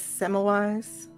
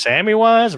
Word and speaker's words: Semmelweis: Ignaz Semmelweis. I think it's pronounced Sammy-wise, but we'll go with what you said.